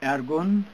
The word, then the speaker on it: Ergun: Ergun, E-R-G-U-N. Uh-huh. This is Turkish pronunciation.